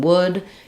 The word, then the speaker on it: wood: that would be good I would like some wood you're working on having that uh LAX rounded high back vowel and not not letting this become wood um but rather W and